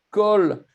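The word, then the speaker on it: כֹּל: Kol haaretz, toute la terre. Ça s'écrit calme, mais on prononce kol.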